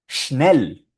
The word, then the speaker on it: schnell: Ese sonido se usa un montón en alemán. Shh, shh. Y aquí tenemos algunas palabras de ejemplo. Esta palabra, por ejemplo, suena schnell, schnell, schnell.